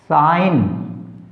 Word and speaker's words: sign: Rule number 7, GN में G साइलेंट रहता है। जिस भी स्पेलिंग के अंदर GN आ गया वहां पर G साइलेंट रहेगा, G का उच्चारण नहीं होगा। जैसे REIGN rain, SIGN साइन, GNAT नेट।